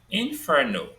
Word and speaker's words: inferno: Then there are three syllables in inferno, inferno. Inferno.